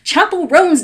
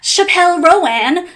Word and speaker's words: Chappell Roan: You say it Chappell Roan, not Chappelle Ro-an.